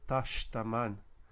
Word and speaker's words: tashtaman: and it seems like there's a general trend that when you have sh, the sh just kind of results in a lengthened vowel of some sort, tashtaman, and the sh just the whole syllable gets pronounced as sh, and if there's a stress to fall on it, it gets knocked to the previous syllable, tashtaman.